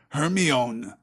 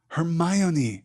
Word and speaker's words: Hermione: say her name properly he kept calling her her me own her my own E she said slowly and clearly her Mon in me close enough she said catching Harry's